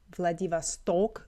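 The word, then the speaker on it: Владивосток: Did you hear how he said Vladivasto? Vladivasto with the stress on the last O.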